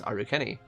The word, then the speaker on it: Arachne: example like it's definitely arachne mon but they would pronounce arachne in japan as aru kenny so it makes sense